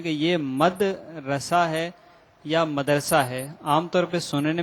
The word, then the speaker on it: مدرسہ: مدرسہ یہ غلط العوام ہے، اصل اس کا تلفظ ہے مدرسہ، میم دال زبر مد، را زبر را، را زبر را، اور سین آ زبر سہ، اردو کے حساب سے